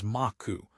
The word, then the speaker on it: Macau: The Portuguese pronounced Macau as Maku.